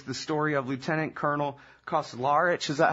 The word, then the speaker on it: Kauzlarich: And so this book is the story of Lieutenant Colonel Kauzlarich. Is that how you say it? Kauzlarich, okay.